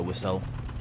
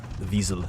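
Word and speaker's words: Wiesel: I was saying it wrong to begin with. I think it's visas or something like that. He's pedic. Yeah, visel. It's uh German, I believe.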